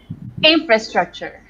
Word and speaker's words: infrastructure: pronunciation do it again infrastructure yeah because the most of the energy goes for the in and everything else is